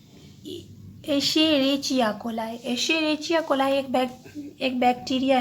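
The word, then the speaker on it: Escherichia coli: Other activity में आपका दिया गया है, यहाँ पे एक बैक्टीरिया है इसेरेचिया, इसका प्रोनाउंसिएशन आराम से करिए, एशेरेचिया कोलाई।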